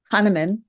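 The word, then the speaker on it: Hahnemann: She is a graduate of the University of Notre Dame and can you pronounce that for me? Ha. Han Hannan. Hanaman. Yeah. Okay. All right. Hanaman Medical College.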